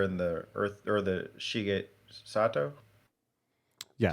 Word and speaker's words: Shigesato Itoi: Like I always think when we bring up the mother and the earth or the Shige Sato, Yeah, say it right? Shigesato Itoi.